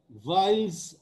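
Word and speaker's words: Weyl: আছে, এটাকে বলা হয় ভাইলস আইডেন্টিটি। ভাইল, ডাব্লিউ, জার্মান ভাষায় ডাব্লিউটাকে অনেকটা ভ ভ মতো উচ্চারণ করে, আমরা অনেক সময় সেটা করি না, ওয়াইলস আইডেন্টিটি বলি, ভাইল বলি না, ভ দিয়ে বলি না।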